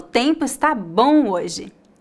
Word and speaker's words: bom: o som das vogais a letra M não é pronunciada claramente como um M repita depois de mim